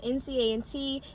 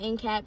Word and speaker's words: NCAT: topic of the video which is howard versus nca and t is not in cat please do not pronounce it that way but yes okay so